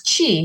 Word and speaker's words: Qi: more time please yeah it's Qi so that's Chi so Chi is the